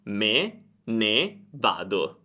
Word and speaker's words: me ne vado: Io, me, ne vado. Me ne vado deve essere pronunciato come un'unica parola, perché me e ne non hanno un accento, ma prendono l'accento di vado.